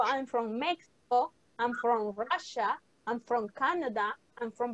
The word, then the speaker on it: Russia: La pronunciación es Russia, no Rusia, Russia, okay?